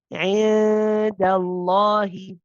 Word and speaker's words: عند الله: You pronounce the gunna, but you're ready and you're close to the dal. How do we say this? عند عند عند الله.